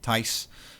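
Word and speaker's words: Thys: I have a weird Dutch name, Ty. Um, very common in the Netherlands, spelled th hijs, but in English I spell it t h ys and it's pronounced ty.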